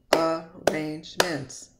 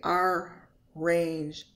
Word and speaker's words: arrangement: and broken the syllables Arrangements I don't say Arrangements I say Arrangement there's only one R sound a long a sound